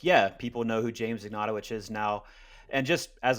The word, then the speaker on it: Ignatowich: No, it's Ignatowich.